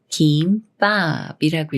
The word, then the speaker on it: 김밥: 비읍 만났습니까 조성 읍이 쌍비읍 술인 뿔과 되면서 김밥이라고 읽어요 김밥이 남 말은 감사와 감사 중에 어떻게